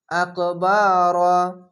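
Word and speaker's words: أكبر: চার আলিফ টেনে পড়বেন আকবার এখানে র হচ্ছে কেন রা কেন হচ্ছে না মোটা অক্ষর র আকার উচ্চারণ হবে না আকবার মিন এখানে ফাগুন্না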